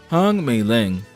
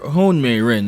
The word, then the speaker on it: Hong Meiling: Meet Hong Meiling. Or Houng Meiren if you're using the Japanese pronunciation.